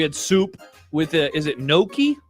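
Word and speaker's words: gnocchi: We had soup with Is it Noki? I always want to pronounce it ganache, but it's noki.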